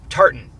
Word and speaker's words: tartan: Charter color so she Tartan colors however they pronounce it tartter no Tartan Tartan not tartter sauce Tartan so she can